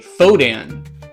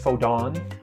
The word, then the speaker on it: Fodan: I make I make a Fodan token. Uh, by the way, it's pronounced Fodon.